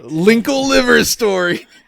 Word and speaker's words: Linkle Liver Story: It's Wrinkle River Story, or as you like to call it. Oh, you actually said it right. Linkle Liver Story. That's Linkle Liver Story, which I think it's pretty widely known that even though this is written on the box, this was an unintentional error based on what's actually.